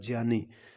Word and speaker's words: ज्ञानी: एक ज्ञानी नहीं है, इसका सही उच्चारण होता है ज्ञानी।